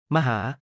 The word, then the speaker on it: มหา: มหา 태국 사람들이 정말로 웅장한 것을 표현하고 싶을 때 มหา 마처럼 발음을 사용합니다.